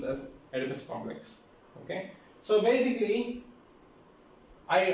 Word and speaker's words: Oedipus: That's why it's pronounced as Oedipus Complex.